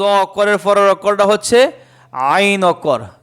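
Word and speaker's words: عين: আইন বলেন আইন আবার বলেন আইন আবার বলেন আইন এ আইন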